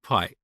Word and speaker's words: pi: of me for saying P instead of pi. But that's how we learned this back in Iran. We we pronounce it as P.